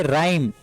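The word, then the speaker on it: rhyme: आप यहां पर देखिए आर एच वाई एमपी इसको यहां पर भी टेस्ट वर्ड साइलेंट होगा तो क्या पड़ेगी राइम ठीक है राइट राइट मिंस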